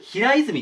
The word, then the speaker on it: 平泉: つ寺ですねほにゃらら字のある平泉って読みますこれ平泉は世界遺産